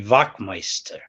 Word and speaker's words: Wachtmeister: It's a W is V, so that'd be Wachtmeister.